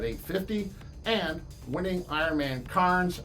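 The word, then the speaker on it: Cairns: and winning Iron Man KS or canes if you're from Australia where they don't pronounce the r with an 844 finish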